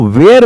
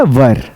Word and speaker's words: were: बहुत सारे लोग WAS को वाज बोलते हैं, ये गलत है, और WERE को वेयर बोलते हैं, ये गलत है। इसकी बजाय आपको बोलना है वॉज और आपको बोलना है वर। ठीक है, ये सही प्रोनाउंसिएशन है।